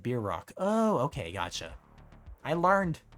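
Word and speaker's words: bierock: carry to mouth yeah pronounced like beer Rock oh okay gotcha I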